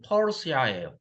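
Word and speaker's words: Persia: 그러니까 페르시아를 영어 스페링으로 쓰면 P-E-R-S-I-A예요. 그런데 영어식 발음으로 하면 퍼시아예요. 퍼시아. 그러니까 바사가 오히려 더 원음에 가깝기는 해요. 페르시아식으로 발음하면 페르시아예요. 영어식으로 발음하면 퍼시아예요. 그러니까 바사야.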